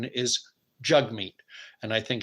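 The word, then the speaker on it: Jagmeet: po poeva you know whatever but jug meat Jag meat it is spelled Jag meat but it is pronounced according to the man himself the proper pronunciation is jug meet and I think it's simply a matter of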